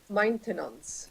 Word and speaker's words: maintenance: have maintenance maintenance issue our sound mmm your favorite maintenance not mine main main and tenant thing okay maintenance that's it if I give you